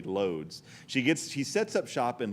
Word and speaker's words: Łódź: And again, it's pronounced Łódź or something, but I'm going to say Lodz.